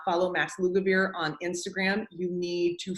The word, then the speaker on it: Lugavere: If you guys do not follow Max Lugavere on Instagram, you need to follow Max. He is really good looking also. But Can you say his name again, Max? Max Lugavere. Yeah, like it sounds, Lugavere.